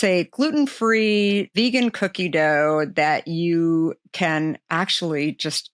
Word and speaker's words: Deux: So Sabeena Ladha, who is the founder and CEO of, depending on how you pronounce it, Dough Foods. Dough Foods for sure, but spelled kind of like